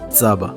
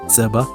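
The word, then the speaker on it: ጸባ: of milk in Ge'ez is actually pronounced tzaba with the tzade over here. So two letters, tzade and bet, tzaba, or it's also pronounced, you can do tzeba with a first order over here.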